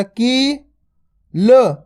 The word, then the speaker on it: कील: किस प्रकार से करेंगे अपन ल पूरा नहीं करेंगे ल अगर पूरा करेंगे तो गलत हो जाएगा कैसे पढ़ेंगे का में बड़ी ई की मात्रा की ल कील इस प्रकार से आया समझ में जब भी अपन शब्द पढ़ते हैं तो लास्ट वाला अक्षर का उच्चारण अपन आधा करते हैं पूरा नहीं करते हैं दोस्तों आप जितना ज्यादा